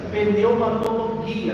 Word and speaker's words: pneumatologia: Então, a palavra pneumatologia, como a gente já tem estudado as outras disciplinas, logia é estudo. Estudo, logia é estudo. Só que no grego não é logia, porque o não tem som de J.